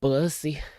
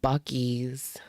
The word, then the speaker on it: Buc-ee's: No, it's not pronounced bussy. It's pronounced Buc-ee's.